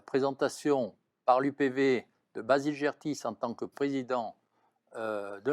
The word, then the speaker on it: Gertis: Alors j'ai dit Gertis tout à l'heure, je l'ai prononcé à l'autrichienne peut-être, c'est Gertis.